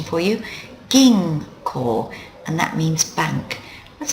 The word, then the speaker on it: 銀行: plus call gives you ging call there's the pronunciation for you ging core and that means Bank let's have a look